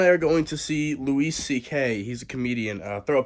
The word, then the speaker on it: Louis C.K.: And I just realized I've been saying his name wrong. It is Louis C.K.